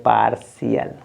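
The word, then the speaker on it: partial: श ठीक है ना अब इसको पढ़ेंगे पार्शियल क्या हो जाएगा पार्शियल ठीक है ना आप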